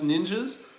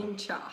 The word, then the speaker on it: Ningxia: We are, in fact, talking about Ningxia Ningxia. Red. How is it actually pronounced? Ningxia. Ningxia Red. Okay.